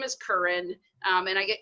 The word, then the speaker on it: Keren: Even after, I've known them for a while and that type of stuff, or I'll tell them it's Keren, it rhymes with urine.